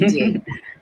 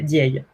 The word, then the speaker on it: Ndiaye: Oui, Ndiaye. C'est OK, ça se prononce effectivement et le nom de famille Ndiaye.